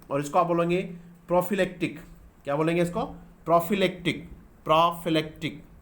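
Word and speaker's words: prophylactic: Pronunciation क्या होता है इसका? प्रोफिलेक्टिक। क्या बोलेंगे इसको? प्रोफिलेक्टिक।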